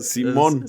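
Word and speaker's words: Simon: Y bueno, Simón sin acento. Siempre se me se me iba el acento al diseñar las portadas. Es correcto. Pero se pronuncia Simón.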